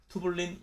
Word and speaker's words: 튜블린: 속이 빈 큐브 형태로 투블린 일양체가 모여져 만들어진다 튜블린이라고 쓰고 투블린이라고 읽어요 투블린 알파와 투블린 베타는